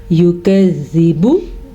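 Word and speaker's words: يكذب: با کو لمبا نہیں کرنا, یکذب. زال کو بھی لمبا نہیں کرنا کیونکہ زال کے نیچے زیر ہے. یکذب, بو کیا تو لفظ غلط.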